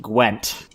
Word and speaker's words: Gwent: First off, D, it's pronounced Gwent.